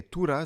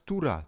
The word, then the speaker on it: Tora: God that stuff okay Tura so it's not Torah it's Tura Tura okay after that